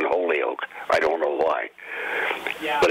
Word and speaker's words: Holyoke: it's not people have a hard time saying Holyoke I don't know why but it's Holyoke there you go Holyoke mayor Todd Singh says his favorite part of